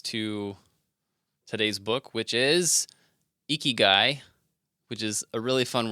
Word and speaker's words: ikigai: Eeky guy.